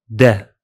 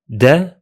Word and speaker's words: da: Finally, in Egyptian Arabic, the initial ha disappears, resulting in da, di, and dol.